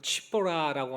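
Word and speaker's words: צִפּוֹרָה: 오늘 본문 말씀을 보면은요, 모세가 이스라엘 백성을 애굽에서 구원해라라는 이 하나님의 소명을 받고요, 아내된 이 시보라라는 여인, 원래 히브리어 발음으로는 치보라라고 하는데 이 참새라는 뜻을 가진 여인의 이름입니다.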